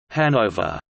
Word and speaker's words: Hanover: The English pronunciation, with stress on the first syllable, is applied to both the German and English spellings, which is different from